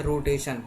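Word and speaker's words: rotation: तो आर पर ओ की मात्रा RO, रो, और TATION, रोटेशन। ये TION से सन का उच्चारण होता है, ये मैं पहले बता चुका हूँ, ठीक है ना, रोटेशन, ठीक है।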